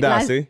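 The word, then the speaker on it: Medaase: Midasi. Yes. Midasi.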